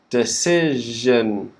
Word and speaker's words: decision: both of these words the second syllable is stressed so decide side decide in decision that second syllable the vowel sound is changing to si okay so de si decision okay after sir we have it's quick though because after we have the schwa decision decision okay so for example i